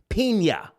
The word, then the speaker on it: Pina: Pena. Pena.